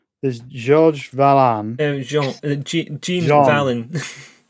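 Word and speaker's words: Jean Valjean: Pronounce it through your nose. You like halfway there. That just sounds disgusting if I try that. I just got to force the air up and out through the nose.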